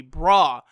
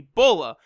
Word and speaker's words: Bra: you know worthy of Sayan royalty and Bulma pronounces that the child's name is going to be bra now this is actually super interesting so I've